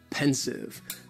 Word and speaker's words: pensive: With Friends next is pensive and the pronunciation very easy just two syllables and the stress is on that first syllable intensive pencil the pronunciation